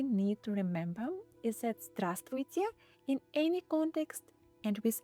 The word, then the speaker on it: Здравствуйте: Здравствуйте. Здравствуйте. Здравствуйте. Здравствуйте. Some letters aren't really pronounced at all. For example, this one.